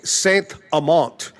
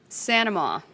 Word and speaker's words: Saint-Amant: I like to say Saint-Amant. Claire Saint-Amant. But she pronounces it Sanama.